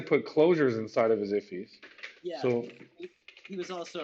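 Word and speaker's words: IIFE: Immediately invoked function, pronounced IFI, is a JavaScript design pattern often used to minimize naming conflict and create private variables.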